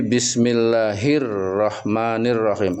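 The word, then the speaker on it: بسم الله الرحمن الرحيم: Jadi dibacanya bukan bismill bismillahil rahmanil rahim tapi bismillahirrahmanirrahim alif lamnya hilang terang huruf ronya maka seperti matahari jelas terang syamsih bismillahirrahman jadi alif lamnya hilang Tidak hil rahman tapi hirrahman ro.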